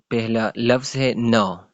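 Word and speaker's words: gnaw: vocabulary and grammar vocabulary use dictionary to identification न इसको न प्रोनाउंस करेंगे न द dog begin to नो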